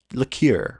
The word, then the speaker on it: liqueur: Is it liqueur or liquor? It's not liquor. It's liqueur, right?